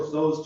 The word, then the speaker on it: Tso's: General Tso's chicken. You said it right. Jake says it General Toast chicken.